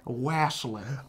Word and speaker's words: wassailing: Oh, I'm shorting it to just the N. Okay. Wasslin'. Oh, wasslin'. You got to put the in front of it, too.